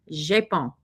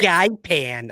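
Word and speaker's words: GEIPAN: of UAP with Gaipan, which they pronounce Japon. We're not even close, are we? Every time an American says it, they all go, ow. I always thought it was Gaipan. I always pronounced it Gaipan. Japon.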